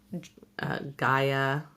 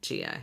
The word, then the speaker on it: Gaia: learned the audiobooks are not always right in pronouncing things. Like in Percy Jackson when they called, Gaia. No. Gia? Gia. yeah. They called the Gaia, which is Mother Earth, Gia.